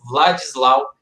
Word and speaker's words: Władysław: Eu devo ter pronunciado de uma forma errada aí anteriormente. É Władysław Spielmann, que lançou o livro e a partir disso aconteceu aí o filme.